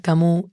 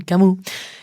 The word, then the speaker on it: Camus: Albert Camus se escribe, pero lo he escuchado pronunciar Camus y me gustó, así que vamos con Camus.